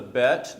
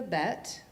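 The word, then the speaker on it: ב: So I will mention the dot, when it's in the bet, it's like b, like you're trying to get that dot out of the mouth, b. But when it's not there, you're just v.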